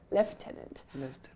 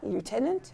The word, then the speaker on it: lieutenant: I don't know where the F comes from, but it's lieutenant. A military officer, a police or fire leader or chief assistant. He was promoted to the rank of lieutenant, but lieutenant is also perfectly Correct.